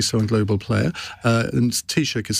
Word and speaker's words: Taoiseach: And Taoiseach is spelled Taoiseach.